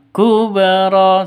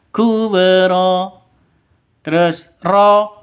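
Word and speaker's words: كُبْرَى: kata di tengah kalimat Kubro harus dipantulkan Kubro seperti cara bacanya Ya kub terus ro dua ketukan Mad Iwat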